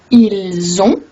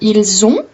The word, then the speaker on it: ils ont: Et une autre chose que vous avez peut-être pu constater, c'est que le T de ils ont, elles ont, ne se prononce pas.